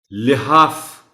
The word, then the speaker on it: لحاف: لحاف، لام کے نیچے زیر کا خیال رکھا جانا چاہیے.